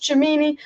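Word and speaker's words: Tchouaméni: win the premier league or champions league it's pronounced chamini i i keep getting told i was pronounced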